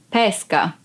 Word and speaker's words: pesca: You don't open your mouth like pesca, but pesca. And this one is the hobby you can have. For example, I really enjoy going fishing. Mi piace molto andare a pesca. So the difference would be pesca and pesca.